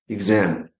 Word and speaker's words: exam: It's incorrect to say exam. The stress must go to the second syllable. So it's exam. Exam. If you say exam for you it may sound right but for the examiner it's incorrect.